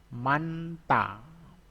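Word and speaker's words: 많다: Jadi manta. Manta. Tulisannya manhata. Manhata itu hanya dihilangkan ya.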